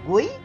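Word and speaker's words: Guy: dirinya dengan nama Ji ingat ya walaupun tulisannya Gue pernah syuting yang dipakai pronunciation bahasa Perancis sehingga dibacanya G bukan gay dalam petualangannya ini dia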